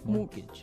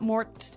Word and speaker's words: mortgage: with a t yeah it has a t in it but you don't pronounce it you say mortgage morgage so not Mort mortgage not mortgage morgage